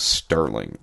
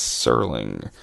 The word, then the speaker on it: Serling: For years when I was a kid, I thought his name was Sterling, s t e r. And then I remember probably when I was 16 or 17 watching a Twilight Zone marathon realizing, oh, it's Serling.